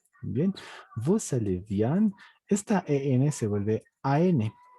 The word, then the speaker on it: vous allez: Pero cuando ya armas una oración y a la siguiente hay una vocal, la S se pronuncia vous allez bien. Bien, vous allez bien.